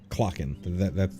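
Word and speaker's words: Clachan: Yeah, Clocken. That's what I decided on how to pronounce that.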